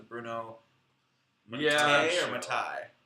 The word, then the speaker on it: Mattei: or Matai. Matei. Mattei. Oh It man. rhymes with okay. Just like a George Takei.